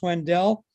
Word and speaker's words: Wendell: first thing is that my last name is pronounced Wendell and our it's in our family our family